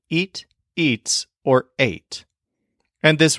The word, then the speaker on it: y: yells and we listen the Spanish word for and is e spelled with the letter Y it's such a short sweet easy word just a single sound e and it's super easy